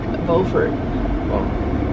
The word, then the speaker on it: Beaufort: that's the name that's how you say it beaufort i like crazy beaufort and edith beauford swan